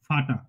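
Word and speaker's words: Vater: ভিটা কেন উচ্চারণ করলাম ফাউ কিন্তু ব্যবহার হবে এফ এর মত যেকোনো জায়গায় আমরা যে এফ যেই শব্দগুলো ইউজ করি সেগুলোতে ভি দিয়ে উচ্চারণ করবো যেমন ফাটা ফাটা ফাটা মানে বাবা ফাটা ঠিক আছে আচ্ছা ডাব্লিউ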